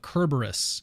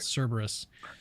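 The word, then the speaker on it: Kerberos: when they're talking about kerberus according to Dr Craig that's the correct way to pronounce it not Cerberus uh cus um he would be correct for for the Greek yes yes yes um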